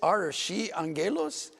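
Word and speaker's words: ⲁⲣⲭⲏⲁⲅⲅⲉⲗⲟⲥ: And this archi angelos, we pronounce it archi angelos. The Greeks pronounce it a little bit different from this.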